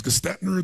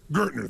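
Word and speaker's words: Gerstner: And they brought in, what, I don't know how to pronounce his name, it was Gestetner, the gentleman who came in, who was like the major turnaround guy. What's his name? Gertner, thank you.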